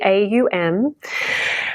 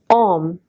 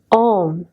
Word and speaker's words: Om: this mantra is pronounced Om, and it's chanted Om. It's a different shape in the mouth than saying ow.